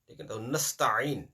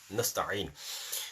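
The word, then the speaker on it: نستعين: Ayn is very important. If you're not going to pronounce ayn, either there will be no letter or the ayn will be changed with hamza.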